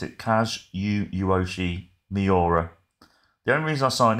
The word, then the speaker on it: Kazuyoshi Miura: No, how do you pronounce it? Kazuyoshi Miura.